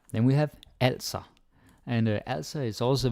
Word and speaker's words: altså: Don't say altså. I hear some learners, they do this, and yeah, it's okay to make mistakes, but you can totally avoid that. And the Danish A, right here, A, it can never be pronounced like English, like awesome or awful or anything like that. Like if you say also, it sounds Swedish.